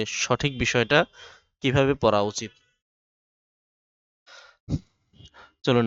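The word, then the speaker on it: ث: গোড়া থেকে তা আর সা উচ্চারণ হবে সামনের উপরের দুই দাঁতের আগা থেকে সা এরপর জিম জিম এরপর হা।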